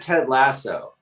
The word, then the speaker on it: Ted Lasso: it could be yeah she's pronouncing it wrong austin she said ted lasso thank you yeah ted